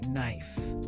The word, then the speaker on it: knife: Think about a word like knife. It starts with a silent letter or the word no.